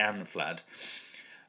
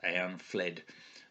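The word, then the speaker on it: Eanflæd: I think you supposed to stress the first syllable so it's a I'm Vlad but it's the flat sound that that's one of the differences I think barnaby Edwards pronounced that I am fled but I think it's Vlad so am Vlad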